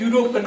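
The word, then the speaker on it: European: इसी प्रकार यूरोपियन, भले ई आ रहा है, एलिफेंट, ELEPHANT, ठीक है, एलिफेंट। उसके आगे आप किसका प्रयोग करते हैं? एन का प्रयोग, क्योंकि एलिफेंट का उच्चारण क्या है? ए आ रहा है, ए स्वर है। पर यहाँ क्या है? यूरोपियन, यू का उच्चारण है।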